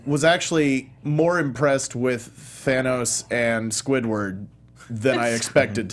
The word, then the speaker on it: Thanos: or lived based on how they pronounced the villains name fanos you you might hear Thanos most of the time but I could have sworn somebody said fan us a couple of times and then you saw